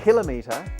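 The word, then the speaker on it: กิโลเมตร: The word for kilometre in Thai is kilomet. Almost the same, but not quite. For a start, the K sound at the beginning of kilometre turns into a G or a G sound.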